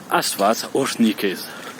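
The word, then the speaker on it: Աստված օրհնի քեզ: arménien d'Arménie, donc arménien oriental, et qui se prononce Asfaz Oshnikez.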